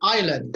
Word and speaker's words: island: There's a silent S. Like island.